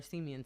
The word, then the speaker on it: Semien: alonso at first and semen at shortstop so or Semien sorry i always pronounced incorrectly and we've got Kendall